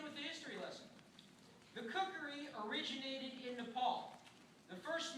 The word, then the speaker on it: Kukri: The name Kukri is actually a Western pronunciation. In Nepal, it's pronounced Kukri, or simply Gurkha blade.